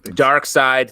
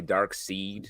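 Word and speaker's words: Darkseid: very shitty at pronunciation dark sides people say dark seed yeah i always did that you said dark seed yeah i said dark seed until i realized oh wait actually dark side makes more sense uh edward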